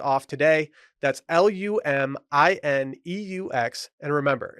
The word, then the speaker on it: Lumineux: That's Lumineux. And remember, it's spelled with an X, so you can X out the harm.